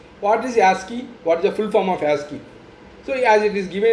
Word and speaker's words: ASCII: Okay, so this ASCII code is basically pronounced as ASCII, ASCII, key, ASCII, and this was first developed and published in the year 1963.